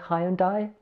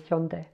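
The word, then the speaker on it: 현대: I believe when I hear English people talk about it, they say Hyundai, something like that, but it looks like the correct pronunciation is Hyundai.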